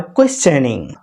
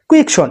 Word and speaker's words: question: কাউকে প্রশ্ন করছেন, ইউ আর কোয়েশ্চেনিং। নট কোয়েকশন, it will be কোয়েশ্চেন।